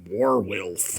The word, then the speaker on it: werewolf: That woman is a werewolf. Um, I believe the correct pronunciation is Warwolf.